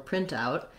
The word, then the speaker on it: printout: we printed out, then you're going to stress the first syllable and it'll sound like print out.